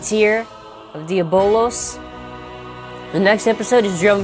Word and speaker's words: Diabolos: So Diabolosu is how you pronounce it in Japanese, but Diabolos is actually what the name is.